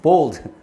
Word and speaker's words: bold: 또 발음, 이거 우 발음해라. bold 하면 또 대머리입니다. 대머리 만들지 말고, bold.